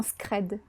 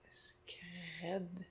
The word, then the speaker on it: scred: Qu'est-ce que ça veut dire faire quelque chose en scred? En scred. Mhm. S-C-R-E-D. Oui. Si ça peut t'aider, c'est du verlan. Ah! Un peu Scred. transformé, mais ça, c'est du verlan. Scred.